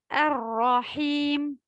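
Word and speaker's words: الرحيم: De même, pour le Ra, il ne faut pas beaucoup le doubler. Ar-Rahim. Donc, c'est tout, Inch'Allah. Ah, bien sûr, il ne faut pas faire Ghunna Ar-Rahim dans le prolongement de la lettre Ha. Ar-Rahim. La Ghunna sera seulement sur le mime.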